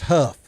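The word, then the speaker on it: Hough: and if you look up in a dictionary, it gives you both pronunciation, but obviously they've always went by Huff.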